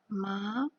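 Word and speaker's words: má: Kemudian yang kedua naik ke atas tandanya. Bagaimana membacanya? Ma naik, oke.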